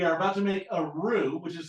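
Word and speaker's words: roux: Mison plus we are about to make a rue which is spelled r ux when the Rue is done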